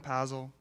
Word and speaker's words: Pazel: My name is Pazel. It rhymes with razzle-dazzle.